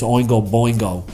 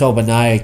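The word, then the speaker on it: Ogbonnaya: He calls him Chris Oingo Boingo. He means Chris Obanaya. Keep an eye on him to start. Keep an eye on Cha-Cha? No, on Chris Obanaya start getting more carries there.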